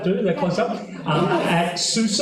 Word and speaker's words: SUSE: That close up at SUSE. Apparently, that's how you pronounce it. I always thought it was Suze, like as in Dr. Seuss.